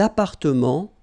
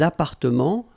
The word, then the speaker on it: appartements: Des appartements en copropriété. Remember, final S and final T are not pronounced here. Des appartements, little liaison here, des appartements en copropriété.